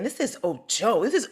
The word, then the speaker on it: Ojo: My last name is pronounced Ojo. It's so. My gut was saying, this is Ojo. This is Ojo.